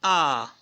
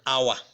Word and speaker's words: hour: It is also used before words that begin with a silent H. Silent H. Sometimes certain letters are silent in a word. In words. So for example, in an hour, not in an hour, like some persons will say.